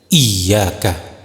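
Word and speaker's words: إيّاك: Perhatikan dengan seksama huruf iya pada lafal iyaka di atas huruf iya tersebut bertengger tanda tasdid yang menuntut penekanan suara. Cara pelafalan yang benar adalah dengan menekan kuat huruf tersebut menjadi iyaka.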